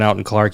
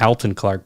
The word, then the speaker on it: Alton Clark: His name was Alton, and he spelled it Alton, and that's how he pronounced it, Alton. That's where I get Alton Clark.